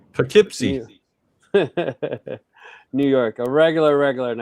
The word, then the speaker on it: Poughkeepsie: Poughkeepsie. Poughkeepsie.